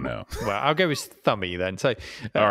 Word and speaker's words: Thumby: you're probably right because you don't pronounce the B in thumb. Yeah. Weird. I don't know. Well, I'll go with Thummy then.